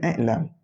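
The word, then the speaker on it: إِعْلَمْ: ya'lamu fi'il amalnya iklam situ juga hamzah atas deh tapi kita nak bacanya iklam ertinya ketahui olehmu hei orang-orang Orang yang nak beruntung dunia akhirat.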